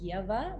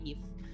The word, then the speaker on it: Ieva: It's actually Ieva, but a lot of people have a lot of difficulties pronouncing it, so just say Eve.